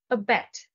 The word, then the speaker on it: abet: deviant unusual a bet the stress is on the second syllable a bet to a bet is